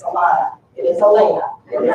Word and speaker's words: Elena: And yes, it is Elena. Don't look at her at the program and say, oh, she's mispronouncing her name. It's Alana.